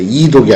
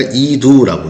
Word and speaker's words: 이두: 지금 그다음에 일글독 근데 여기 두라고 써 있죠.이 일글독자가 발음이 두로 익히는 경우 있는데 그때는 구두 우리가 구절이나 문장을 끊어읽는 것을 구두라고 하는데 그 구두 할 때의 뜻으로 보면 두라고 있습니다. 읽을 독자를 구두 이두죠. 그 이독이 아니라 이두라고 했습니다.